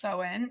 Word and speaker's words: Samhain: it's spelled okay so Irish Halloween is called soin spelled s m ha a i n pronounced soen it was a pagan religious Festival that originated